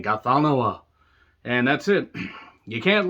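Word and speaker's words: Ghatanothoa: Gathanoa. But you're supposed to say it like, got another one, but then you hold the tip of your tongue and everything. Gathanoa.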